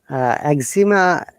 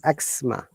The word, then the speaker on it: eczema: Eczema, actually, it's not eczema, it is eczema. Remember, the tricky point of these three words, Monica, Liz, and Vim, though it is spelled with Z, there is no Z sound at all. It is always S sound, T and S.